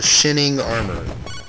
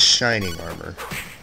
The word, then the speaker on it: Shinning Armor: And no, I did not mispronounce that. That's literally how it's read, Shinning Armor. Of course, to say what it really supposed to probably more than likely mean, we'd call it Shining Armor.